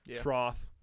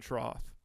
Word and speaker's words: trough: trough trough trough trough no you're saying th it's trough trough trough am I crazy F or th it's F man trough trough trough yeah